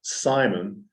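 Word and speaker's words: Semyon: And his dad, and his name is pronounced Simon, S-E-M-Y-O-N, this is spelling.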